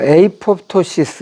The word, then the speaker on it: 아포토시스: 뭐 에이포토시스 이렇게 발음도 하고 아포토시스라고도 발음해요.